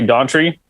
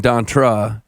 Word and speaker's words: Dontre: changed in 2010 so i just say gauntry but if you want to say it a different way it's just a made up name like who cares okay however you prefer it that's how that's